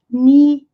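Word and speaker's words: knee: Em inglês, o K seguido de N não é pronunciado. Ni é joelho e se escreve K-N-E-E.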